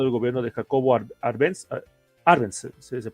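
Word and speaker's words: Árbenz: este fue derrocado el gobierno de Jacobo arens arens se pronuncia así no bueno Jacobo arens Sí sí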